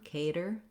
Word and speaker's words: cater: the letters D-E-R, cater, because we use a flap for this. So the flap sound we use for T's and D's in the middle when there's not a stressed syllable following. If you think about it like a light D, just tapping up with your voice on, cater, cater, that can help you.